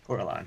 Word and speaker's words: Corellon: do you say his name again corellon yes corellon that it's true and you do not know